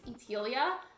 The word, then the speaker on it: Etelia: My island name is Etelia, or at least that's how we've decided to pronounce it.